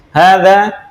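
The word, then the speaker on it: هذا: Hanya seakan-akan pendek ya, namun ini bacanya panjang. Hadza kitabun.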